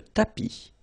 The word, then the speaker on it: tapis: Remember final S not pronounced. Le tapis.